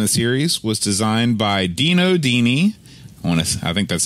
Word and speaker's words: Dino Dini: first game of the series was designed by Dino Dini honest I think that's how you pronounce it it is exactly correct they're excellent